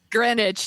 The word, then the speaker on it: Greenwich: Greenwich, thank you. I always mispronounce it every time.